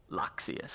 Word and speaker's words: Loxius: fears doesn't like water loxius is how she pronounced his name MH for some reason the eye is silent I think it's a